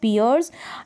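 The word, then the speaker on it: pierce: और ये पियर्स, क्या है, पियर्स, कान में जो छेद कराते हैं, पियर्स। यहाँ पर एंड में जो ई है इसको आप प्रोनाउंस नहीं करेंगे और सी को सब पढ़ देंगे।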